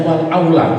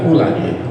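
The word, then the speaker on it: الأولى: tahu itu ibaratnya gini bacanya Wal Aula bukan Ula Ula pertama ituac Wal Aula jadi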